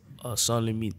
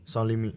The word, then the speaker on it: Sanslimite: Hoe spreek je het uit, Sans? Sanslimite. Sanslimite.